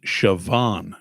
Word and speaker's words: Siobhan: si OB h am Siobhan it's Gaelic Celtic I get the bond part now it's it's but it's pronounced Siobhan spell it's pronounced with a V okay cuz the Irish